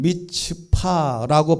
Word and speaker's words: 미츠파: 미스바는 원래의 히브리어는 미츠파라고 발음하는 것인데 이것을 미스바로 이렇게 쉽게 번역을 해놨습니다.